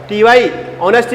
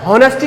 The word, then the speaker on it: honesty: ऑनेस्टी में क्या रहता है? ये हॉनेस्टी नहीं बोलते।